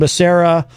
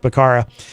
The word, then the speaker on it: Becerra: It says here, in the summer of 2020, then California Attorney General Xavier Becerra, or I've heard it pronounced three different ways. I'm going to go with Becerra, demanded the Trump administration